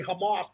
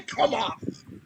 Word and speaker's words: Hamas: They they they can't pronounce Hamas. Yeah, they say come off.